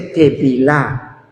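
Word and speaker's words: טבילה: A ver, en hebreo se dice teilá.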